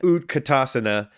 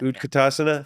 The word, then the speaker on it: utkatasana: ASA right ASA yes it means posture right utkatasana means chair pose Fierce pose Fierce pose it